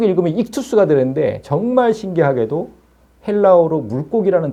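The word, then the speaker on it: ΙΧΘΥΣ: 저걸 이제 익투스라고 읽어요. 익투스.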